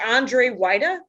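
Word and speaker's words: Andrzej Wajda: and um okay just so that everyone can is it 8 a-n-d-r-z-e and then why that is w-a-j-d-a that's correct and it's pronounced Andre whitea is that how you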